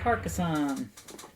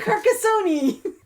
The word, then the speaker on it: Carcassonne: wars game star wars carcassonne i am definitely pronouncing that wrong that's how we pronounce it carcassoni carcassonne is one of